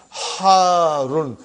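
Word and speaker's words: حارٌّ: Harun. Because the shadda is on ra. So you got to pronounce it properly.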